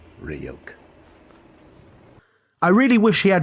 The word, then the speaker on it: Ryuk: Hey kid, it's pronounced Ryuk.